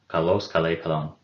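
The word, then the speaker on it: καλός: the neuter nominative singular kalos remember that adjectives have a persistent accent so we have our accent on the last syllable and unless we have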